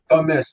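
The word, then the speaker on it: Tom Misch: How you pronounce his name again? Tom Mish.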